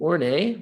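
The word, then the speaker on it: Horney: when we get to ornay which is how you say that word or nay um emphasize the role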